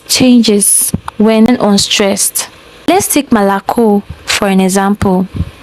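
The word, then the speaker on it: молоко: Wait, all the all the vowels are O. How come only one sounds o like the O m? Why? Why don't Russians pronounce it as Mokco? Why do they pronounce it as Malaco?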